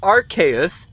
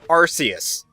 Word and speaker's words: Arceus: It's not Arceus, it's Arceus. The thing is, I still fall on the Arceus side of that debate, simply because I find